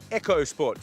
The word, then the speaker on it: EcoSport: not called the ford ecosport it's actually going to silent h in it so silent they don't even print it on the back of the car it's actually pronounced the ford echo sport so if you're looking